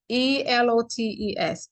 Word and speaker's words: elotes: bag so now let's fast forward to these elotus right so am I saying it right elest elest okay yall know I don't know how to say e l o t es elotes elotes anyway the corn y'all the corn